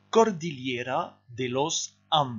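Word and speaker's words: Cordillera de los Andes: de la ligne rouge alors ça ça se prononce vous répétez après moi cordillera delos armes des fêtes pause et répété alors c'est une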